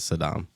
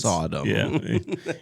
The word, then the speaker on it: Sodom: great I know it's I know someone who pronounces Sodom as Saddam Sadam that's so weird Saddam and gamar no no it's Sodom you can't get away with that all right